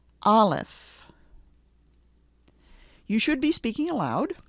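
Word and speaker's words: Aleph: name of the letter the letter is alive repeat after me olif olif you should be speaking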